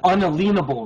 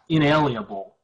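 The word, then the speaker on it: unalienable: An unalenable right, not inalienable. The correct pronunciation would be unalenable, which means a lean can't be placed on your property or your life from the government.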